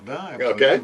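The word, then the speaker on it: Dujardin: how you would say his name yeah Jean dardan very French name yes yeah it's my third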